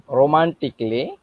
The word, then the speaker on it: romantically: A silent when it becomes before LLY.